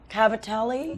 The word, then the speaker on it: cavatelli: by today oh wow so amazing the housemade Cavatelli you pronounced it correctly okay I learned something new